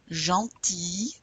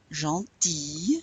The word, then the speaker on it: gentil: Gentil, you don't pronounce the L. Gentil, you still don't pronounce it.